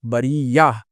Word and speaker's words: بریہ: ہم نے پڑھا تھا، تا تانیث ہے، وقف کرنے کی صورت میں ہا میں تبدیل ہو جائے گی اور اس کی ہجے ہوگی یا ہا زبر یا، بریہ، بریتے سے بریہ ہو جائے گا.